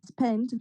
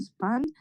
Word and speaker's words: spent: First, masraf kardan, or we have to pronounce the spent, not spanned.